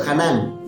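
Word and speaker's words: חנן: La idea se relaciona con Hanán, así se pronuncia la palabra en hebreo, Hanán.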